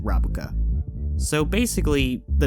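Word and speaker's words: ラブカ: Well, actually, in Japanese, the song is called Rabuka, which is what translates to frilled shark, and sounds similar to Is It Love in Japanese, which is also pronounced Rabuka.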